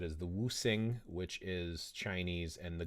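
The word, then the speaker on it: Wuxing: So in Mandarin, when you use English romanized characters, X means you pronounce it like an SH. So Wusing, if you want to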